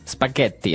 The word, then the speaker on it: spaghetti: Spaghetti. Oh, you pronounced the double T as well.